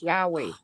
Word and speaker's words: Yahweh: It's pronounced Yahweh, Y-A-H-W-E-H.